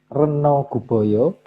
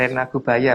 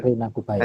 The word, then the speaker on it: Rena Gubaya: Slide ke-63, sementara itu Sang Hyang Reno Guboyo ditunjuk untuk mengendalikan hama berupa tikus. Rena Gubaya Mas bacanya. Iya, lanjut. Rena Gubaya.